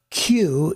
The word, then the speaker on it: queue: we go the word q is ironic it's just a q with a bunch of silent letters waiting in line so q u e